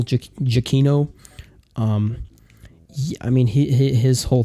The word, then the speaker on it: Giacchino: of it like Michael people I guess have been mispronouncing this guy's name for years because I've always heard Michael Giacchino but I think it's Michael chiquinho I mean he his